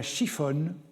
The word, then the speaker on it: siphon: chiffonnerie avait pour emblème un siphon prononcé chiffon qui était le signe